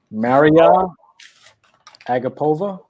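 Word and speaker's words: Mariya Agapova: you know saying hey work how do you pronounce this uh young lady's name my man mariella agapova i think you just nailed it maria gapova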